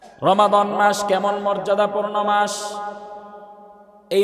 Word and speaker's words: রমাদান: আমরা সচরাচর মিমের উপর সাকিন দিয়ে বলি রমজান মাস। ঠিক না? রমজান। আমরা বলি রমজান। মূলত এই শব্দের উচ্চারণ রমজান নয়। শব্দের উচ্চারণ হচ্ছে রমাদান। মিমের উপর জবর দিয়ে।